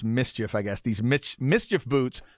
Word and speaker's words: MSCHF: So it's kind of a acronym, if you will, but it's pronounced Mischief, I guess.